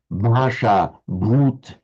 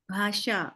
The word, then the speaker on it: bhasha: So mand I can just say bhasha bhagawan bhasha bh bhagavan. Okay, thank you very much man. In all of those you hear there was a b followed by a slight aspiration but no vowel in in between.